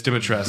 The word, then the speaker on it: Dimitrescu: I think it's Dimitrescu. That's how they pronounce it. It's Dimitrescu. Really?